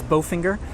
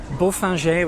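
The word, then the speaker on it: Bofinger: Again, don't come here and try to pronounce this Bowfinger. The locals probably won't know what you mean. Beaufinger was actually the name of an early owner.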